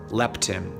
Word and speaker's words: leptin: also secrete a decreased amount of hormone called leptin this is spelled L e PT I M this tells